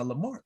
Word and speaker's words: Lamar: of um is it is it pronounced uh lamar who put out your home yeah yeah yeah yeah yeah yeah yeah it's lamar texas man it's um like 25 miles right